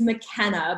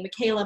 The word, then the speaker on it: McKenna: it from there so my full name is McKenna but that's really hard for people to get the spelling of and get the pronunciation right and to not call me Micaela Mackenzie whatever so Evers and Donald's